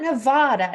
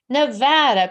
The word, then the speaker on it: Nevada: but in Nevada and please quit saying Nevada right Wendy it is not Nevada it's Nevada people or to raise sixth